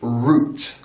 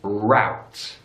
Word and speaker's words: route: is a big difference in British English roots roots in American English route routes since that ow our sound routes in British English